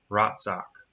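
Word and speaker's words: רצח: Ratsak is how you pronounce it.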